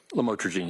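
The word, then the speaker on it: lamotrigine: about the u the lamel otherwise known as lamatrogene. Did I pronounce that right? Lamotrograene.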